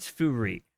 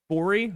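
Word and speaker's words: Fourie: Now, my friend is named Vainant Furi, okay? He's from South Africa. He is actually tremendous. His name is spelled Winand, like W-Y-N-A-N-D, Furi, like the number 4 I-E, but it's pronounced Vainant.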